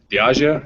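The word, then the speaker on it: Diageo: a couple of beers and I really like diio is that how you say it yeah okay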